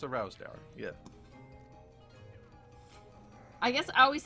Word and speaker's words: Rowsdower: Oh, that one has Rowdowser slippers. I always would say it wrong, and Justin finally corrected me, and I'm like, I don't know, it's a sheep. It's a very bored sheep. It's a Rowsdower, yeah.